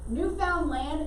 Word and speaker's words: Newfoundland: so it's so um typically today we kind of smash it together newfoundland is what he wanted to call the newfoundland we just say it really quick today make a note for